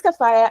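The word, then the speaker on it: Kafayat: my name is TAF well I like it with a silent tee so my name is kafaya and I will be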